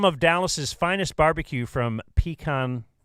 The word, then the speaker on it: Pecan Lodge: Some of Dallas's finest barbecue from Pecan, I probably said it wrong again, Pecan Lodge is headed your way. You've never said it right, so Pecan? don't start now. Pecan. Pecan. All three of you agree? Yes. Sometimes Northerners have to come down here and teach you guys the right way to do stuff, and I'm trying my best.